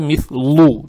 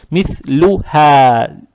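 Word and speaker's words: مثلها: Здесь как будто дамма приобретает оттенок ю, мит-лю, не надо мит-лу читать, это ошибка. Мит-лю-ха.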